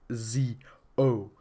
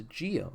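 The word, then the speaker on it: Zi-O: like it's actually pronounced Z oh because it's spelled Z oh okay yes it's spelled zo but they pronounce a Gio you can pronounce a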